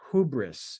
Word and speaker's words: hubris: you can see it the word is it's pronounced hubris and you'll you'll hear this as you read